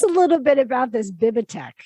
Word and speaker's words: Bibby Tech: So tell us a little bit about this Bibitech. Is that how you say it? Yeah, it's called Bibby Tech.